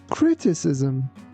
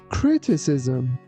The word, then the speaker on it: criticism: The first one is pronounced like C and the second one like S.